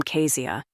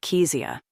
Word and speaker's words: Kesia: Bernard version I froze she pronounced my name Kia which I couldn't even be mad about because it meant she learned it by reading it rather than hearing it I pronounced it kesia over the years I'd